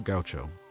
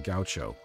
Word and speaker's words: gaucho: And how do you say it? Gaucho. Gaucho. What is it? Gaucho. Gaucho. Gaucho. Gaucho. Okay. Not gaucho.